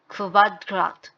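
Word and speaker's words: Quadrat: খু, খুতে হচ্ছে kvalitet অথবা kvele, kvadrat। তো এই ইউ থাকলে কোয়া না হয়ে kvা হচ্ছে, ভি টাইপের উচ্চারণ হচ্ছে। কোয়াড্রাট, কোয়াড্রাট হচ্ছে স্কোয়ার, নর্মালি যে স্কোয়ার শেপ হয়।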